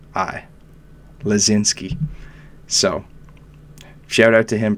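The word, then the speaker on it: Laczynski: there's player on the Philadelphia Flyers named Tanner lazinski and easier pronounced than spelled because he has six consonants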